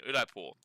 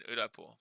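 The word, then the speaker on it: Udaipur: If you guys want to Google it, we are going to visit a place called the Wax Museum in Udapore, and that's spelled U D A I P U R.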